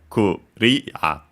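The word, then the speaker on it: クリア: As for its accent, luckily it's just like in English, so very clear, as yeah, so kuria, low, high, low.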